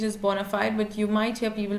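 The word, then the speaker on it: bona fide: is sometimes I would say like the best pronunciation is Bonafide but you might hear people pronouncing it bonafed which is sometimes strange but it's fine if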